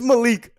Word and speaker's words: Malik: is m a l i k Malik it's Malik but the pronunciation is Malik okay Malik Malik but Malik